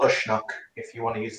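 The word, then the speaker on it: Uisneach: Also called Ushnock, if you want to use its Irish pronunciation.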